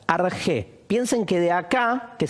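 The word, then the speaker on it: ἀρχή: las cosas se dice argé. Este CH, que en castellano puede ser la Q, ¿sí? Se pronuncia fonéticamente como una J, argé.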